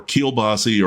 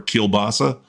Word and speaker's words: kielbasa: always redolent with garlic, might be pronounced kielbassi or kielbassa, but I guarantee you